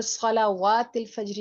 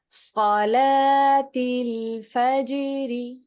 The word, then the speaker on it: صلاة الفجر: यहाँ पर सलावातिल फज्र नहीं पढ़ेंगे, वाव पढ़ा नहीं जाएगा। ये लिखने में आता है लेकिन इसमें इसको साउंड नहीं करेंगे, साइलेंट है यहाँ पर। सलातिल फज्र صلاة الفجر वहीन وحين